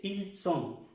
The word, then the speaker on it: ils sont: son, que se dice ils sont, ils sont, ils sont. La S se pronuncia bien, como en el español.